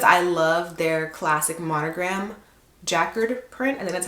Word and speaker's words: Jacquard: But I decided to get this wallet, one because I love their classic Monogram Jacquard print, and that's how you say it, but